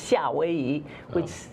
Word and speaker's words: 夏威夷: Well, no, it's the same characters, but it's pronounced 夏威夷, which is a little more distanced from the sound of Okay.